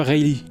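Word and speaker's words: Rayleigh: Riley. On prononce Ry en fait.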